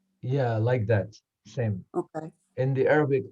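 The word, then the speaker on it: ث: difference is seen is pronounced regularly like S in English language, but tha, it's pronounced more like the tip of the tongue touching to the edge of top two incisors.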